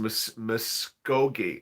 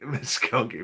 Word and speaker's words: Muskogee: It's pronounced Muskogee. Muskogee.